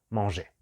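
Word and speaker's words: mangé: es mosé primer grupo hace la misma pronunciación pero recordad que es una e con acento y es moshé lo mismo si decimos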